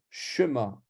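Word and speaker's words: שְׁמַע: Shema s'écrit avec un 2 points comme ça, et il est court. Shema. C'est pas comme si je mettais les 2 points dans l'autre sens. Shema ou Shema. Non, c'est Shema.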